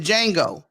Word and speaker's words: Django: __ ] out of Django too yeah uh one time I saw you you had your hands on mine yeah the J salad but yeah the J is silent and collateral with Tom